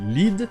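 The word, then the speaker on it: lede: Donc pour éviter de les confondre, ils ont écrit lead, L-E-D-E. Donc au final, bury the lead et bury the lead se prononcent de la même manière et veulent dire la même chose.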